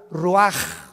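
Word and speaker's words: רוח: Roach así como suena se pronuncia la c en hebreo como J raj se le só y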